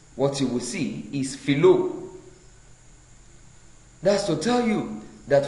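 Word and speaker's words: φιλῶ: For the first person singular, we are to note that the first person singular, phileo, should be written and pronounced as philo, philo.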